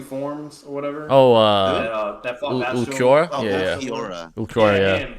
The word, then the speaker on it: Ulquiorra: It was against Akura. Like, how do you fuck you say his name again? Akura, the guy that has 2 forms or whatever. Oh, that Ulquiorra?